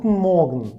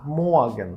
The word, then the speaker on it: Morgen: Далі good morgen. Morgen ми не кажемо. Літера е читається як а. Могн. Могн. Н могн.